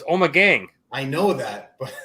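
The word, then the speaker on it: Ommegang: ipa from uh when we pronounce this right omagang omegane omegon i'm not sure what that means but love the camera what is it like oh my god no it's omagang i know that but like it's a play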